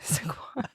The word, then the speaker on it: Saquon: Saquon. Well, yes, that's how you say it.